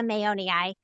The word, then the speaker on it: mayonii: Borrelia mayonii. If you're trying to remember how to say it, think of Mayo, like Mayo Clinic. Like we named it after the Mayo brothers.